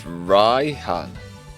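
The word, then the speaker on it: Raihan: It's actually spelled um R A I H A N. So it's Ryhan.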